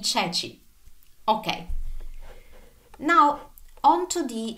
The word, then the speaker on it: ceci: Anytime the C is followed by E or I, then it is pronounced as in church. Remember ceci. Remember ceci. Ricorda I ceci.